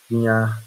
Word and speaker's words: Guignard: Guinhar se escreve da forma que vocês estão vendo aí, Guignard.